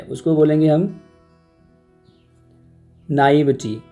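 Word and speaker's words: naïveté: भोला भाला होने की जो क्वालिटी है उसको बोलेंगे हम नाइविटी। या तो इसको पढ़ते हैं नाइविटी या नाइविटे, थोड़ा फ्रेंच इसका उच्चारण आ जाएगा एंड में, तो इसको हम बोलेंगे नाइविटे, नाइविटे या नाइविटी।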